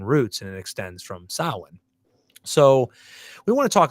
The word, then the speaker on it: Samhain: Now, Samhain, some people say Samhain because they don't know how it's pronounced. Samhain. It's Samhain. And Samhain is an Irish word that extends from a Gaelic festival that celebrates the month of November.